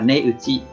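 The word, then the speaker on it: 値打ち: Cách đọc của nó là ne uchi, ne uchi.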